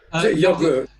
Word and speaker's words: yogur: Yogurt. Yogurt. So it's spelled the same, just pronounced different. No T on the end.